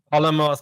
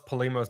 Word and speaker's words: Polemos: I mess it up Alamos palimos both are fine like everyone takes it a with their own spin okay cool uh and